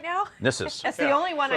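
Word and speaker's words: Gnisis: We're in Nissus? Nissus Right now? Nissus. That's the only one I know for sure. Yes, in this right? one the G is silent, unlike in Dreg.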